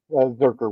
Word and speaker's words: Zurcher: Randy it looks like Zurcher, Georgia. but it's pronounced Zurcher with the hard K.